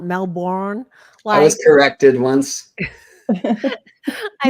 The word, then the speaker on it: Melbourne: First of all, I love that you pronounce Melbourne correctly, not Melbourne.